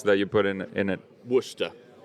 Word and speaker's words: Worcestershire: Worcester. Oh God, yeah. Yeah, it doesn't look like that, but that's how you say it.